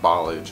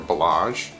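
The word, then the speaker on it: Ballage: you say his name you guys are telling me it's not Balaji it's more balázs so I'm from Oklahoma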